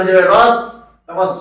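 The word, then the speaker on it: ঋ: রয়ে, রয়ে হস্যই, রয়ে হস্যই, অর্থাৎ একে উচ্চারণ করে কিন্তু রি, রি। এর উচ্চারণ কি? রি। অর্থাৎ রয়ে হস্যই ই, এর উচ্চারণটা কিন্তু স্বরবর্ণ হলো, কিন্তু একে ব্যঞ্জনের নিয়ে উচ্চারণ করতে হয়।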